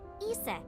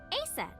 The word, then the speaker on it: Aset: Horus's mom is named Isis, but in ancient Egyptian, it's pronounced closer to Iset or Aset.